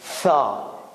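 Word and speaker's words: ثاء: They write it TH, but it's something like T and S. Tha. Tha. Tha. Tha. Tha. So tha, with it's like an S, T plus S.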